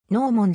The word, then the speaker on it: gnomon: られる脳もの英語による発音はノー者である日本語環境では